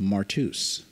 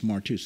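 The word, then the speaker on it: μάρτυς: word in the new testament the word is pronounced martus you shall be witnesses unto me it's martus m-a-r-t-u-s it is where we get our english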